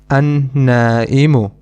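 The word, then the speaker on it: النائم: Another example is an-na'imu, which means someone who is sleeping, asleep. In this noun, we do not pronounce the lam again. The reason is that noon is one of the sun letters, an-na'imu.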